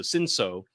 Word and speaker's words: Cinsault: a grape called Cinsault, which is spelled Cinsoult, but, you know, kind of a silent T. So Cinsault. And these two, this is a fascinating grape because Pinot Noir and Cinsault are both grapes that